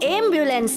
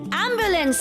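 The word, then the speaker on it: ambulance: वो एम्बुलेंस नहीं, एम्बुलेंस है।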